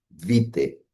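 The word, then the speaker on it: Witte: Astrólogos de Hamburgo, que fue fundada por Alfred Vite, ¿no? Vite se en alemán se escribe W I TTE, eh, quien falleció en 1941.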